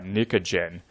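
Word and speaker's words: pnictogen: of that group and the p is sort of silent so this is pronounced nicogen the nicogen family where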